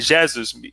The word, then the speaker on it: Jesus: you may say, Leo, it's Jesus or Jesus. No, it's Jesus, because it's Jesus. So there is an accent on the letter E, so the pronunciation is a little bit different there.